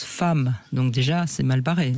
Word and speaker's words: femme: Bon en tout cas euh bah c'est compliqué parce que femme ça s'écrit avec un e alors qu'on prononce femme.